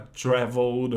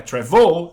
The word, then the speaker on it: travel: Para traveled ou traveling não vai dobrar, porque não é travel, é travel. A sílaba tônica é a primeira, não a segunda.